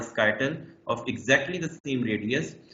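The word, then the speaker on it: scytale: One of the oldest known example is the Spartan skyttle. Skyttle rhymes with Italy a baton.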